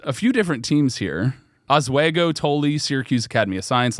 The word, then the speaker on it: Oswego: If anybody knows anything from this podcast, I will mispronounce it. Oswego. Oswego. How do you say that? Oswego. Swego? Oswego, yeah.